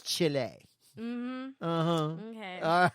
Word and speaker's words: Chile: Go whitewater rafting on the Foodaloo-foo River in Chile. That's Chile. Whatever. You eat chili. It's Chile.